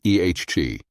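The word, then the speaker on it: את: Et is pronounced ehg.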